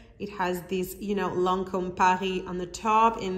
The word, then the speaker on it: Lancôme: it is idol lanterns of lancome that is how you pronounce it in french this is so pretty